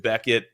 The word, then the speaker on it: Bequette: to change it from so apparently Becket is a pretty common name in France um it was angle ized by some to CK um but I guess that's where I get my my stubbornness from uh we just went with with Becket uh with the original spelling and it confuses everyone but hey it's a